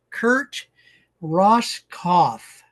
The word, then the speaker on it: Kurt Roskopf: We're visiting with Kurt Ross Kauf. So, the P is silent.